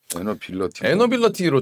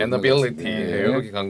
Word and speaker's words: 에너빌리티: 원래 발음 에너빌러티 이렇게 했어야 되는데. 그죠? 러티라고 하면 또 이제 또 너무 굴린다 이래가지고 리티로. 에너빌리티 이렇게 간 것 같아요.